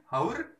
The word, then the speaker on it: hour: disini ada bacanya gimana Ini bajunya bacanya our bukan bacanya Ours hour Nah bukan out Try Out Bahasa Inggris